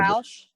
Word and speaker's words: Ruach: 12 is, I don't know how to pronounce it, Ruach. It's Ruach healing method. I'm not, I can read a little Roush. bit. Roush. Okay. Roush healing method.